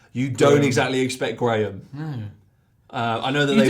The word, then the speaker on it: Graham: you don't exactly expect Graham. No. I know that You don't expect Graham to miss. I know that they pronounce it completely differently in the States because it's like Graham, But Graham, can you imagine that?